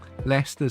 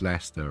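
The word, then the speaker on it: Leicester: know where Mansfield is leester still pronounced Lester right it's not it's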